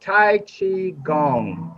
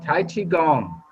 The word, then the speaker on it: Tai Chi Gong: us tonight brian thompson hey brian i keep pronouncing it tell me what it is the name what we do is called tai chi gong tai chi gong bingo yeah yeah and i'll be happy to